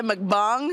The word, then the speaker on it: mukbang: The time that I accidentally did a mukbang. That is how it's pronounced.